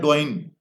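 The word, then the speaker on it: Douyin: word है जिसको हम अगर अपनी जुबान में बोलने की कोशिश करें तो वो है डॉइन अब डॉइन जो है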